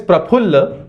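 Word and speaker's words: प्रफुल्ल: Similarly praphulla. the Hindi word phul comes from phull. so somebody says fulo ka tharah sabka kehana he, fulom ka nahi hai, if you say fulom ka kehana he, its likes fools you know. so phulom ka kehana he, so the name is praphulla.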